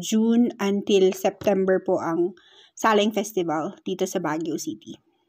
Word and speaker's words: Saleng: Now, dito sa Cordillera or dito sa Baguio City, ang pronunciation actually ng Saleng is Saleng.